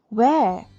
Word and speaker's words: where: Where? Say with me. Where? Where? W-H-E-R-E. Where? This one also, W dia pun bukan silent letter. Dia ada bunyi.